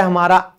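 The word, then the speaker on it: hymn: भजन, इसे हम कहते हैं हिम, एन हमारा साइलेंट है।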